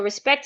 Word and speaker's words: respect: So respect is respect whether it's a noun or a verb.